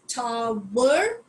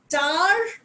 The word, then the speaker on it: tower: And this word is pronounced as tower. Tower is again American. Tar is British. So it can be pronounced as tar or tower. Both the pronunciation is correct.